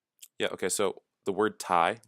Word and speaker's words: Thai: That should be pronounced like Thae or Thay if you're going to use others, like the way we spell chair and stairs.